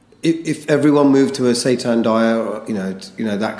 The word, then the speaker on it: seitan: Is it seitan?